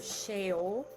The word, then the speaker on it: Sheol: A means, or Sheol. It's spelled S-H-E-O-L, if you're into looking stuff up.